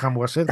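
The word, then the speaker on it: Khaemwaset: de de bueno y lo voy a pronunciar mal como siempre lo he dicho Kim waset Sí bueno Kim waset ham waset como quieras Sí Exacto que que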